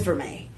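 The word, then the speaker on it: vermeil: So uh what is verme? It's spelled vermile. V E R M E I L.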